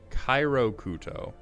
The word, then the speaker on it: Kiro Kyuto: Also, it's pronounced like Cairo Kuto.